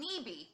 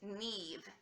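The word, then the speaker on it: Niamh: name her name is Nev and EA ve it rhymes with Steve and leave and leave it is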